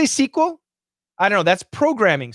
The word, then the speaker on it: SQL: ama is really cool who decides sql pronunciation that way it's just the standard it's just the standard it's the stan that's just what everybody does the standard is sql it's appropriate in a professional situation the professors that teach